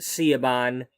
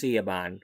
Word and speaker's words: Siobhan: Well, we were supposed to have, and I will say this one more time, I pronounce it Seaban in this world. It's Seaban.